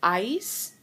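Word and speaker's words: áis: So for vosotros, it's ais. Notice there's an accent on the a.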